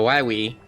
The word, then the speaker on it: Wily: and see uh so all the games got it wrong because actually it was originally pronounced doctor why we and only the mega man cartoon got that correct doctor why we that wasn't